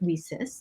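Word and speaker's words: WiCyS: cyber security executive director we often go by our acronym leases which is w-i-c-y-s we pronounce it recess like we sisters that's exactly what we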